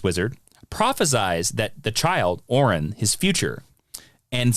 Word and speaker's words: Orin: So he is now called Orin, O-R-I-N.